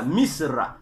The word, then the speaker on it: Misra: mir ou Mistre c'est pas comment il faut prononcer ça donc mistraï au pluriel et au singulier on appelle ça Misra voilà Misra donc m i s r Misra ça c'est